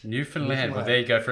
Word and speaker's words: Newfoundland: So I grew up in a little place called Flat Rock, Newfoundland, population 400.